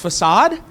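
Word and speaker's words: façade: would find out that it's actually pronounced facad Yes and so facad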